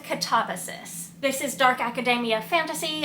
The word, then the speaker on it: Katabasis: The pronunciation of the title has been a bit of a subject of contention. I'm going with Katabasis.